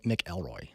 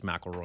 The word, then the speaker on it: McElroy: in tulsa scott i i apologize i think i've been saying your last name wrong my entire life uh i think i've been saying nick elroy yeah it's mcelroy oh dang it i'm